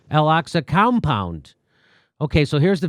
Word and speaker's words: Al-Aqsa: Palestinians, Israeli police clash at Jerusalem's how do you pronounce that? Al-Aqsa. Al-Aqsa compound.